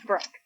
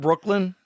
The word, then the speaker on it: Brooke: Okay, it's Brooke. Not Brooklyn. No, not Brooklyn. Brooke.